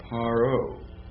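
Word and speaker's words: פַּרְעֹה: right has to so the P would be pronounced with a p sound so it is parro what does it mean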